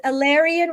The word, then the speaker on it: Elarion: I always pronounce this wrong. Is this Alyan Resonance, right, Azria?